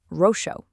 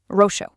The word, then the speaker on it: roxo: Now, compare that to the word for purple, roxo. That letter X right in the middle is pronounced as an SH sound, exactly like the English word she.